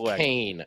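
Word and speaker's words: Keene: went to uh went to Keen too it's pronounced Kane okay geez Keen Kane whatever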